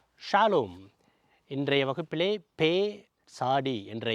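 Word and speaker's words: פ: இதற்கு இங்கே புள்ளி இருந்தால் பே, இங்கே புள்ளி இல்லாமல் இருந்தால் ஃபே. எஃப் அப்படிங்கிற மாதிரி உச்சரிக்கும்.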